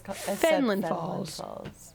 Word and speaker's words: Fenelon Falls: And I was like, because that's literally how it's spelled. Finland? Yeah, and she was like, it's Fenelon Falls.